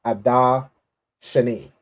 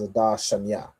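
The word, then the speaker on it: Adar Sheni: with an intercalary month called Adar Shani, right? Or we would pronounce this as Adar Shanya, right? Or the Adar right here. So I put two references. There's two ways to say it, right?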